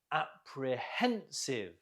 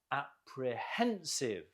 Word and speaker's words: apprehensive: Apprehensive. Note the stress on the hen. Apprehensive.